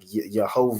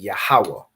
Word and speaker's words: Yahawah: to pronounce these letters so you're not saying like yahovah or however you know the oppressor would pronounce it however they pronounce it with their Yiddish you convert it into the ancient Hebrew so you're saying yahawah you recognize these letters